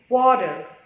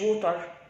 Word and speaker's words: water: كلمات انت بتنطقها غلط، زي كلمة ووتر. مش عارف اسمها ووتر، عايزين تنطقها بالت ماشي، واتر او واتر، واتر مش ووتر. مش عارف اسمها ووتر. في الامريكان بقى بننطقها واتر، نيجي من الدهب بقى. انا لما بلاقي حرف التي بين حرفين متحركين اللي هما الفاولز بنطقها الده، وده خفيفة، يبقى water.